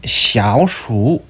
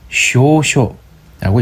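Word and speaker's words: 小暑: 환경 105도이고 중국어로는 샤오슈, 일본어 쇼쇼라고 읽습니다.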